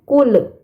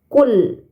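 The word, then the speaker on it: قُلْ: pertama pada kata KL terdapat lam sukun ya lam sukun ini bukan huruf Qalqalah maka dibacanya tidak boleh memantul bukan kul nah tapi KL ditahan ya teman-teman KL kemudian terdapat kata ya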